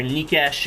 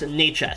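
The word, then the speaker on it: Nečas: According to the website, if you go on the Carolina Hurricanes website, it's pronounced Necas. So that's how I go, even though I'm pretty sure that's very, very incorrect.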